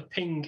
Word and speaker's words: PNG: was to support the ping image format or png i don't know how people prefer to pronounce it i prefer ping so this is now